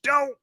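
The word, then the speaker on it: D'oh: But then we realized that's not how it's pronounced. And we were like, well, the main one would be the Simpsons anyways. So, you know, D-O-H, Doe.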